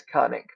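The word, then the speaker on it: Qannik: Okay, this polar bear's name is Cunning. That's how that is pronounced.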